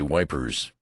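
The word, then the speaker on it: Ypres: question about ephre for I pronounced the name French fashion which put me under suspicion as a swanker. Don't try to come it, son. He says, say wipers. That's what we calls it.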